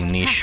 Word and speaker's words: niche: am fine with holy locket being a very niche or niche item depending on what way you want to pronounce it cinderella it's okay some items should